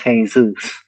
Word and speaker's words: Yeshua: Um we know at least in the Greek manuscripts that we still have today, uh the Messiah's name is present pronounced Yeshua.